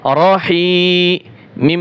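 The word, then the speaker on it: رحيم: যেমন র জবর র, হা ইয়া জের হি, রহি, মিম দুই পেশ মুন, রহিমুন। যখন এখানে ওয়াকফ হবে, এটা তো অক্ষর জায়গায় মধ্যে আরজি হয়, অক্ষরের জায়গায় কি হবে? মধ্যে আরজি হবে। তাহলে এখানে উচ্চারণ হবে রহিম।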